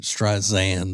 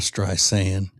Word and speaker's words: Streisand: She may have pronounced it Streisand though, which I hate. Streisand instead of Streisand.